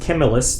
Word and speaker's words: Camillus: That's pronounced Camillus.